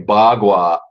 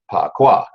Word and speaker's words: Bagua: So Bagua is Mandarin Chinese. And so it's the way the Chinese want us to pronounce it or say it. So if you wanted to split hairs, I would say Bagua, according to the Chinese, is more correct than Pakwa.